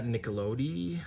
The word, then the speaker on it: Nicolodi: Daria Nicolodi, I believe that's how you say it.